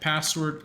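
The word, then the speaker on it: passwd: so all you have to do is type password so it's you could call it password or however you want to pronounce it but it's spelled p a SS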